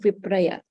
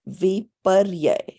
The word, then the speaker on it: विपर्यय: The second type of aspect of mithya gnan is something called vipraya. So vipraya में क्या होता है कि हम बोलते हैं कि Rupal, it's pronounced viparyay.